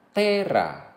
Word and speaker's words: terra: Pada kata-kata yang terdiri dari dua suku kata, penekanan diletakkan pada suku kata pertama. Misalnya, pater, mater, terra.